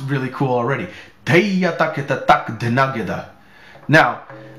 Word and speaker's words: Dheya Takheta Tak Dhena Geda: Dheya Takheta Tak Dhena Geda. Now, I'm going to say it slowly so you can catch all of the syllables.